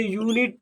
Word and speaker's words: unit: तो जो यू है इस यू को यू ही प्रोनाउंस किया जाएगा। क्या किया जाएगा, यू ही प्रोनाउंस किया जाएगा, ठीक। तो इसे यूनिट पढ़ा जाएगा।